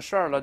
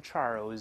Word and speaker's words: Charles: 了、哎、注意这个英国人名字可以读成 Charles，法国人名字读成 Charles，后面的 S 不发音